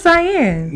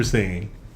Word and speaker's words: Saiyan: Is that how it's pronounced? I thought it was Cyan. No. Yeah, Super Saiyan.